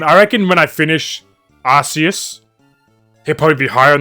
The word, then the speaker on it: Arceus: I don't know how to pronounce it. Arceus. That's it, what he said, Arceus.